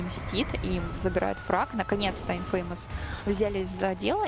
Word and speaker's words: Imfamous: Да, кстати, правильно говорить Imfamous.